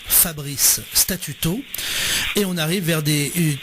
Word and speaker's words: Fabrice Statuto: Donc, c'est Fabrice Statuto, comme ça se prononce, Fabrice Statuto.